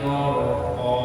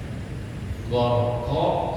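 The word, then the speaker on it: غَرْقًا: Wan nazi'ati gharqa, harus dalam sini ucapin qaf, tetap di makhraj qaf.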